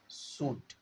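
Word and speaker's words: should: আর লেটটা change হয়ে হবে সুড। They সুড হয়ে যাবে। সুড এলের উচ্চারণ হয় না।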